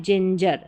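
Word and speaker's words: ginger: हंगर जो है, हंगर, देखिए यहाँ पर क्या कन्फ्यूज़न है, ये है हंगर, इसको ग पढ़ रहे हैं, ये जिंजर, इसको ज पढ़ रहे हैं।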